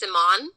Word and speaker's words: Simonne: My name is pronounced Simonne.